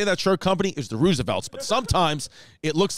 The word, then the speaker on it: RSVLTS: and i'm dyslexic so it's the roosevelts but it's r s v l t s r s v l